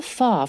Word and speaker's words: far: It's rather far from the city centre. 영국 아주머니입니다. 근데 far from에서 far 들었어요. 영국 언니들은 R 발음 안 해주잖아. 그래서 far.